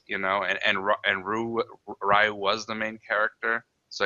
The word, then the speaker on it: Ryu: action movie because that's where everybody called him Rayu. So, that's where I learned Rayu. Okay. But whenever it's any other um series uh I say Ryu which is the supposed to be the pro